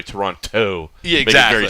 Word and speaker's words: Toronto: Like Toronto, you don't pronounce the T at the end unless you're from out of Toronto.